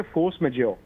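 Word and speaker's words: force majeure: मुझे फ्रेंच आती नहीं इसको प्रोनाउंस कैसे करते हैं इसको कहते फोर्स मेजर ये कांट्रैक्ट में होता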